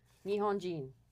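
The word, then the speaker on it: 日本: Nihon.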